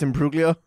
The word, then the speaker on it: Imbruglia: It's pronounced Imbruglia.